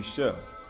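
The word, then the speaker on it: שה: They say it like say, it could be shah or shah. Right? Right? Because they got the shin and the ha. But it has say, it's shah, right? Say or shah, right?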